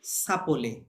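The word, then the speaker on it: s'appelle: সাপোলে, সাপোলে। হ্যাঁ, ভার্বটা যখন ভাউল দিয়ে হবে তখন এরকম এসটা ওর সাথে লেগে যাবে।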